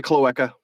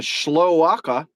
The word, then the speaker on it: cloaca: Males have peckers, and females a cloaca. Don't call it a schloaka, even though that's how it's spelled.